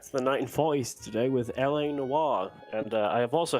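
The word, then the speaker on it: L.A. Noire: I'm going to introduce to you running LA Noir. That is how you say that name, that word. I heard it pronounced something weirdly the other day by somebody not in this event, but something weird.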